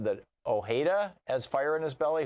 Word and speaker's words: Ojeda: here you said that Ojeda as fire in his belly who's that yes Richard Richard Jetta Oh Jenna Oh je da da so he's anglicized his pronunciation yeah he ran for